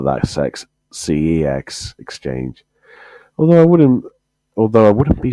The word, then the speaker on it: CeX: I know it's pronounced CEX, or one of my friends calls it Kex, as in hex, but that's got an H in it, so you can't say that.